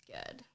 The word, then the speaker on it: Gurd: You either get Gurd or Guard, but it's Gurd.